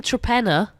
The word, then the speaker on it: Torpenhow: Give them Trepenna. Oh, yeah. Can you imagine? So that's spelt Trepenor, is it? It's spelt like Torpenhow. Torpenhow, that's it, yeah. But that is Trepenna, yeah.